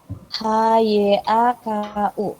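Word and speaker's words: ひゃく: Tulisannya H-Y-A-K-U. Kyaku. 100 itu Hyaku. Nah, untuk penyebutan orang itu tinggal ditambah nin, tapi dibacanya ning.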